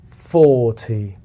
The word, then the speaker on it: forty: and we are going to remember to slide down that pitch with the long vowel O. So it will sound like this: four, four. And of course, the second syllable will carry less energy, and together they will sound as follows: 40, 40, 40, 40.